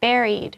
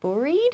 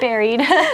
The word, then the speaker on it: buried: We say buried, which sounds, maybe a little strange because you might think like buried, but no, it's buried.